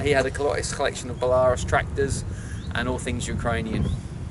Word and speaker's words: Belarus: It is a 1973 Belarus Prawler, or Belarus, as it should be pronounced, but everyone calls them Belarus.